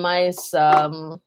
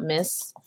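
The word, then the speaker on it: Myss: All right, so this Carolyn Mice, yes, it's pronounced mice, not miss.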